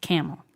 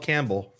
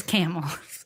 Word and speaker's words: Campbell: east side of Youngstown, spelled Campbell, pronounced Camel. Don't call it Campbell. Don't call it Campbell. They'll beat you up. It's Camel.